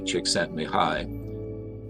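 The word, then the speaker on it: Csikszentmihalyi: code of inherent motivation mihai chiksen mihai pronounced mihai chiksentmihai the previous chairman of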